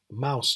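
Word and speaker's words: Maus: Mouse is German for mouse, pronounced the same.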